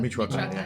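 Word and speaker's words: Michoacán: Michoacan.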